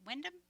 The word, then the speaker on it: Windham: Windom Windham School District.